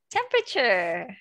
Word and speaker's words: temperature: Do you remember the silent letter? Silent letter. Temperature.